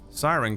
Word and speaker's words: Cxy-Ran: to use his unique Force ability Force mimicry siren can mimic so that's what I was trying